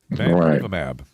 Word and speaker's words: bamlanivimab: Bamlanivimab.